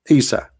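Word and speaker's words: عيسى: You see, in English today, you are reading Isa, right? Like I, Isa. But this is not how it is in Arabic. It is Isa.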